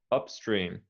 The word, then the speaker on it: upstream: uh is upstream upstream upstream now i would say both syllables uh with equal emphasis upstream upstream uh-huh okay